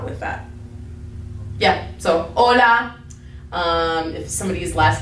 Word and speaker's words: hola: that's why we say we don't say hola right we just say hola so when it's at the beginning of the word it doesn't have a sound okay so hola now you